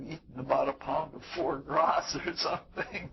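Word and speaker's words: foie gras: about a pound of for grass or something like that for GR I guess is the way it's pronounced uh it's pretty pretty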